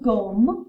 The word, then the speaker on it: gomme: Gomme is like the word for home. I'm going home. But you replace it with a G.